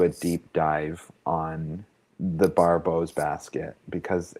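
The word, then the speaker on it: Barbault: You know, in French, his last name's pronounced Barbot.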